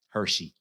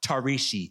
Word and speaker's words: Tarishi: in the eighth grade when a classmate called me Hershey he found it difficult to pronounce tarishi I told you I